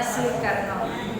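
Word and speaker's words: Soekarno: lama yaan Indonesia lama kalau Soe dibaca subado soeto bacanya Ya Karno bacanya su Karno Oke Ahmad sudah tahu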